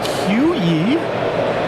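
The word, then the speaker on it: queue: The word Q is just Q followed by four silent letters.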